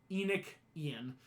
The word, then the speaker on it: Enochian: Enochian, Like E-N, yeah, like Enoch, Enoch, Ah. and then Enian, right? Enoch, Ian, Enochian.